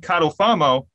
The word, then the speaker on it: Catalfamo: his name is Ed cattle famo which is not the way that I pronounce my last name because I leave the